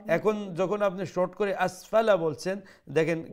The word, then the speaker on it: أسفل: تقويم ثم رددناه أسفل سافلين আচ্ছা এখানে দেখেন আসফালা ফার উপরে যে জবর আছে সেই জবর কি লম্বা করে উচ্চারণ করব জি না লম্বা হবে না তো